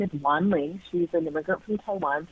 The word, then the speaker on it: Wanling: She's an immigrant from Taiwan, so her name is spelled Wanling, and people would say things like, speak to Wing Ling or Wang Long, or one time I even remember Wendy, and it was just like pretty horrifying and shocking that people wouldn't even try to pronounce it, even phonetically, like the letters they were using were all wrong.